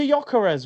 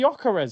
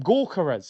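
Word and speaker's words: Gyökeres: Victor Jokeres, right? Silent G, Jokeres. Simple. Man calling him Gorkeres.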